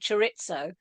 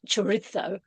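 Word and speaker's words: chorizo: I only realized the other day uh what I called churitzo should be pronounced churitzo, but I can't do it properly.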